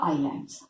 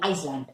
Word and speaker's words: islands: I don't want a childish pronunciation आइसलैंड, नो, आइलैंड।